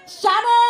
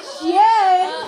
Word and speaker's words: Shane: Shane! Bukan Shen, Shen, bukan Shen ya, Kelly.